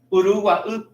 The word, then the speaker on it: Uruguay: Entonces, vos tenés que estar en el lugar, como hablábamos del río Uruguay. Uruguay, esa es la pronunciación.